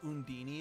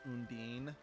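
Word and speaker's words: Undine: else I find funny they pronounce the name undini in this game but in every other Tales game it's pronounced undeen so like I said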